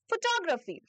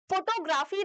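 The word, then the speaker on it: photography: Next देखिए, next is शी is keen on फोटोग्राफी। अच्छा, this word is नॉट फोटोग्राफी, this word is नॉट फोटोग्राफी। ये word फोटोग्राफी नहीं है, इसको आप प्रोनाउंस अलग तरीके से करोगे, इसको आप बोलोगे फोटोग्राफी। फोटोग्राफी, कोई फोटोग्राफर है ना,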